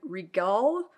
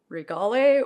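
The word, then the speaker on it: Anthurium regale: one this is anthurium Regal or Regale or I don't know how you know it's kind of like gala gala I'm sure there are many ways to pronounce this but I think it's regal and as you can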